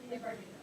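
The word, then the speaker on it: Leigh Bardugo: familiar with, and I don't know how to pronounce their name. Anybody? Lee Bardugo.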